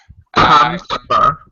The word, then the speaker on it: comfortable: Comfortable. That's Yeah. much better. Yeah, we kind of dropped the middle syllable.